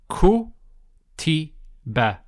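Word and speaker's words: كُتِبَ: So it's ku. Then it's the ta with the kasra. So ku ti. Ku ti. And then finally the ba with the fatha. So it would be ku ti ba.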